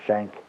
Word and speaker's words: Schenk: Germany, the name Schenk, we pronounce it Schenk. In German it's Schenke, but my family never pronounced it that way. They always just said Schenk.